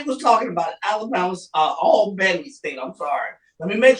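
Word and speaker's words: Albany State: by three nobody was talking about Alabama's uh all Benny state I'm sorry let me make sure I say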